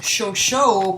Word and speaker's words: Chauchat: ever made okay then Sher Shah was actually pronounced shosho by American troops and he was officially